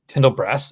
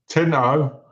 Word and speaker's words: Tinto Brass: And, you know, like, there's like a bunch of like Tyndall Brass. If you're a Tyndall Brass fan, there's a bunch of Tyndall Brass book. You said it wrong. Tinto.